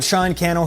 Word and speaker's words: Sean Cannell: Sean Cannell here, Rhymes with Channel, and this is Think Media, bringing you the best tips and tools for building your influence with online video.